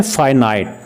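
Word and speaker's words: finite: ये जो होता है ना, इसको बोलते हैं फाइनाइट। कैसे? FY, ऐसे ये प्रोनाउंसिएशन इसका बता रहा हूँ, FYNYT, फाइनाइट, ठीक है ना, जिसको हम कुछ लोग पाकिस्तान में फिनट बोल देते हैं इसको, ठीक है ना। तो इसका सही जो प्रोनाउंसिएशन है वो है फाइनाइट।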